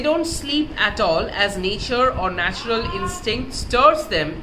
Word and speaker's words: nature: Nature should not be pronounced as nature, N-A-Y-C-H here, but as nature O with three syllables, N-A hyphen T-Y-O-O-R hyphen U-H, nature, nature. That was a Middle English accent.